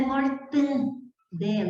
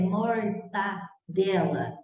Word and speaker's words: mortadela: Não é mortandela, é mortadela, certo?